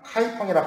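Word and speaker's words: 开封: 그래서 송나라, 한자식 표현으로 개봉이라고 하는데 이제 중국어로 발음을 하다 보니까 카이펑이라 발음하는데, 이 카이펑을 수도로 송나라를 960년에 세웠습니다.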